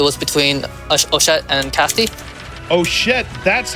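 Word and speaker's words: Ochette: that won it was between oet and Cassy oett that's how it's pronounced thank you Cassie put up a good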